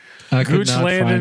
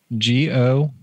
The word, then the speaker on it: Goochland: Well, then, gooch land in Virginia. Anything. Goodness yeah, gracious. I, is it? How can you spell that for the listeners at home, please? G-O-O-C-H-L-A-N-D.